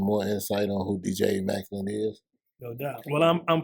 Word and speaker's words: Emmaculate: It's like the word immaculate, but E, because my name is Eric. So DJ Emmaculate, but that shit gets butchered so much.